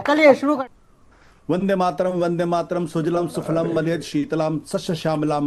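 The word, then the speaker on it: सुजलाम्: वंदे मातरम सुजलम सुफलम मलयज शीतलम सस्य श्यामलाम मातरम शुभ्र ज्योत्सना पुलकित यामिनी। सुजलम सुफलम नहीं है, सुजलाम सुफलम है।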